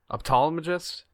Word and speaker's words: ophthalmologist: Ophthalmologist?